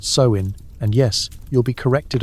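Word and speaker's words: Samhain: Sam Hayne, pronounced so in.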